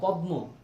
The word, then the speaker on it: পদ্ম: না বলার ঠিক নাই আমরা লিখতেছিদ এর নিচে ম পদ্ম কিন্তু উচ্চারণ করতেছি পদ আমরা লিখতেছি স এর